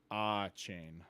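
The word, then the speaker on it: Achane: ah chain yeah so 247 Sports says how to pronounce players names for Texas A M and it's da Von ah chain okay just sounds yeah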